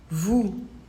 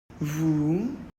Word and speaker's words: vous: principe comme pour nous on ne prononce pas ce s sauf pour faire la liaison pareil on va le